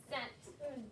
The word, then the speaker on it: scent: Scent. And if you get rid of that C, guess what? That is still scent, and that scent is like you sent a letter.